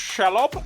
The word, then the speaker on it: Shelob: Should be pronounced Shelob, actually.